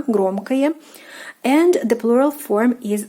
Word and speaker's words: громкое: Take notice that the o in the ending is pronounced more like a, громкое.